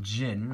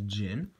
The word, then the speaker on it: Djinn: um so will these gin blades what will they be doing again it is pronounced Jin not the name is a little bit odd but the heavy brother say it's pronounced as Jin um so what will